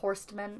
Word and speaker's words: Horstmann: was um on bachelor horstmann i think the t is silent but i told you